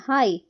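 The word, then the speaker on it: high: हाई हाई में नहीं बोल रहे हैं।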